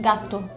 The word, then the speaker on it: gatto: It's like you slightly stop at the first T and then you pronounce the second one. Is the like emphasis on the to or the ga? Gato. Gatto. Gatto. Gatto. I think it's on the A. Ga. That's the accent.